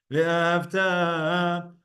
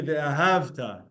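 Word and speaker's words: ואהבת: Ve'ahavta, where you put up the pronunciation on the tav at the end, is a command that you should love.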